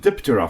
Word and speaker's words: Diptera: 3 in the morning and you don't want to wake up the rest of the house, the P is silent, so you just call it terra. And in this case, when it's combined with di, it's Diptera.